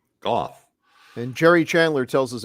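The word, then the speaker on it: Gough: we have learned that Michael Goff is Michael Goff as in cough Goff and Jerry Chandler tells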